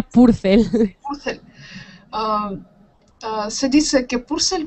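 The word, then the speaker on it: Purcell: Purel purel en español seguro que no se dice bien, sería purcel.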